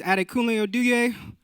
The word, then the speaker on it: Adekunle Oduye: So, my name is Adekunle Oduye.